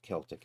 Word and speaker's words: Celtic: I don't Celtic is the way I usually pronounce it unless you're playing basketball.